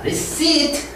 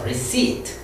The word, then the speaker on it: receipt: profit, 이익, 비업, 오르다, receipt, 피를 발음하지 않습니다. 한번 따라해 주세요. receipt, receipt, 발음하지 않습니다.